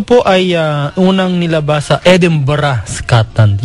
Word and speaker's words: Edinburgh: ay unang nilabas sa Edinburgh Scotland Yan po ang pronunciation niyan ha e d i n b u r g h Edinburgh talagang parang Scotland Paano ko po nalaman